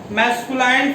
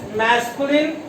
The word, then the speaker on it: masculine: Mistake कर देते हैं, जैसे आप मैस्कुलाइन फेमिनाइन भी बोल देते हैं, दैट इज रॉन्ग। इंग्लिश का स्टूडेंट होने के नाते जहां तक मेरा मानना है कि आपका प्रोनाउंसिएशन अच्छा होना चाहिए। तो this is मैस्कुलिन and this is feminine, not feminine and not masculine.